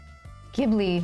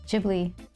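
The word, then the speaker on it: Ghibli: never say that right it's gibl gibli right not it's not soft G jibli oh I think it's jibli isn't it sorry um yeah but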